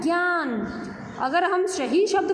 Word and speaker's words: ज्ञ: हमने इसको ज्ञ से ज्ञानी बोलने लग गए। ये ज्ञ से ज्ञानी नहीं होता है, ये होता है ज्ञ।